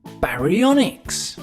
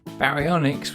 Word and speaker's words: Baryonyx: Now it's time for Baryonyx.